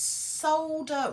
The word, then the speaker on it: solder: and fix together oh it's solder with the silent l that's why they say